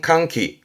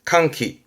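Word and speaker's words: 歓喜: 발음은 캉키 캉키 환이의 그죠?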